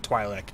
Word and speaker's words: Twi'lek: do it sounds I've always pronounced it twi'lek and if you disagree fight me haha anyway